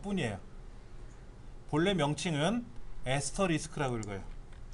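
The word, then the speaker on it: asterisk: 본래 명칭은 에스터리스크라고 읽어요. 에스터리스크. 에스터리스크라고 읽어요.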